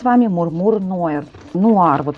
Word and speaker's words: Noir: вами мурмур No ну Нуар вот тут написано Нуар но произносится йр всё-таки Ну можно и сказать Нуар вот смотрите у нас